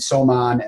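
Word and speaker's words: soman: wmd Medicine you you now have the proper pronunciation so it's tabon sarin somon and cyclosarin so an interesting uh question uh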